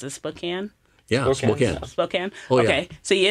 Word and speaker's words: Spokane: a church in I don't know how to pronounce it, Spokane. Yeah, Spokane.